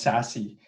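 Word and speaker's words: SASE: what's called the secure access service edge or pronounced sassy and so it's a a fast-forming market that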